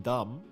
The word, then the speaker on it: dumb: dumb it is that you keep pronouncing the B in dumb, right? It's kind of ironic that you keep saying dumb.